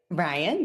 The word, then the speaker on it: Ryane: Ryane, yes. Ryane, okay.